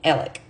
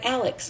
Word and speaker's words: Alex: innocent now I want to be clear you pronounce Murdoch's name Alec this guy who bought the home is Alex a lot of people say Alex Murdoch or Alex murall but it's really ell